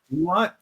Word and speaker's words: Dewott: Dewott? Like dew, I- like I- water, dew on leaves. Dewott. Yes. That makes a lot of sense. I would have said DeWatt as well.